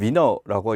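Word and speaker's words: Wiener: 자, 위너 교수 또는 위너라고 있거든요. 예, 그래서 이제 V라는 말, W에 대해서 이제 그쪽에서 그렇게 보는데 미국에서 활동하시기 때문에 위너라고 읽습니다. 우리가 이외에도 많이 보게 될 거고 사실은 수학 쪽, 컴퓨터 쪽 전공이죠.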